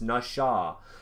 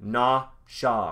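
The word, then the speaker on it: נָשָׁא: does not people it doesn't it doesn't it's nasha it's look na sha right it's it's it's pronounced nasha it's pronounced nasha but it's spelt n-a-s-a look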